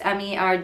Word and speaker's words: Murdaugh: It's spelled like Murdaugh. If you want to look it up, it's Merdaugh, and it's Alex, Alex,